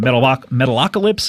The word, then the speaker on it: Metalocalypse: And Brendan Small, people know from Metalocalypse, I believe is how you pronounce it. Metalocalypse, that is correct.